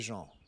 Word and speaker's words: Jean: Nobody gives as authentic and thoughtful reactions as Screwface Jean. I'm sorry. I know he says John, but his name is written in French, and I can't help but pronounce it.